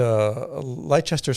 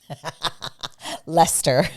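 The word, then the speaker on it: Leicester: i kept going we want to get to lychester square lester lester there was there was a lot of mispronunciation mostly on my part you did pretty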